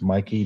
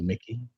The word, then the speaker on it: Mikey: It's Mikey, not Mickey.